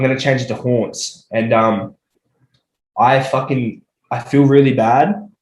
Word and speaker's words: Hauntz: But yeah, Hauntz, it sounds the same as Taunts, but it is spelled pretty different.